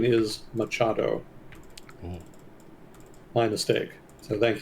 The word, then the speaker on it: Machado: the correct pronunciation is Machado. Ooh. My mistake. So thank you for the correction. I'm kind of used to transliteration rules having the CH combination be used for the K sound.